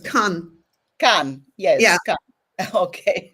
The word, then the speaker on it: kan: Yeah, we pronounce it very different. Kan. Kan. Yes. Yeah. Kan. Okay. Yeah, because I thought Khan because we have the Anatolian pronunciation.